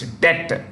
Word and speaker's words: debt: Sri Lanka for its debt the bee is silent in debt debt restructuring with the